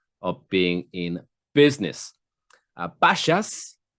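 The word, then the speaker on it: Bashas': being in business uh bashas i don't know if i'm pronouncing that right spelt b-a-s-h-a-s h.a.s um a grocery store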